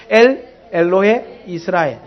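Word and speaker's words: 엘엘로헤이스라엘: 이 발음을 끊기를 잘 끊어야 된다 했지요. 엘 엘로에 이렇게 하면 안 되고 엘 엘로에 이스라엘.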